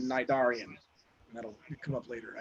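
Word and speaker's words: Cnidarian: And a little nerd joke here, the C is silent like in Nidarian.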